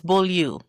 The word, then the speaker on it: Beaulieu: True pronunciation, most people can't say. It's Beaulieu. Beaulieu. It's really Beaulieu. It's Beaulieu. That's Beaulieu. Yep. But most people, yeah, you said it right. You said it right, Beaulieu. That's how you say it.